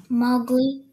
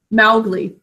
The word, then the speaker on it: Mowgli: Mowgli. But that has changed over the last several decades. Everyone says Mowgli instead of Mowgli. But it makes sense because there's that ow, cow in the snow phonogram.